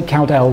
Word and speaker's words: Cowdell: How do you pronounce it? Either. You don't mind. I say Cowdell, but...